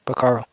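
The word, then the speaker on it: pájaro: purpose just as well the Spanish word for bird is pronounced pararo can you think of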